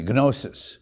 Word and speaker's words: gnosis: There you can use the hard G, gnosis, which means knowledge.